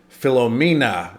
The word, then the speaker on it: Philomena: And I'm following up over a month later on Philomena is how you say it. I think you guys corrected me on that. Philomena Cunk.